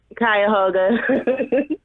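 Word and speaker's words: Cuyahoga: You got to got to you got to tell me the uh how do you pronounce that county? Kyhoga.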